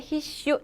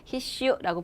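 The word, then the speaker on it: 必須: 깔끔하게 히슈 장음 아니에요. 아셨죠? 자, 필수는 뭐라고요? 히슈라고 보시면 돼요.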